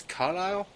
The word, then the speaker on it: Carlisle: So we got an outpost in Kingston and I think that's Carlisle. I think that's how you pronounce that. I think the S is silent, but if I'm wrong, let me know.